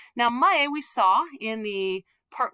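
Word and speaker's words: 前: So this is pronounced mae. Sometimes it's pronounced zen.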